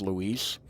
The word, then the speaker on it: Luis: And part of me, like, I am, like, actively trying to say it correctly, because the dude's name is Luis. Part of me does want to call him Lewis every time.